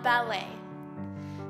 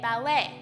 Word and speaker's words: ballet: the fifth letter of ballet the last letter is a little tricky because it doesn't really make a sound when you say ballet so try not to get confused the letter is silent it is a t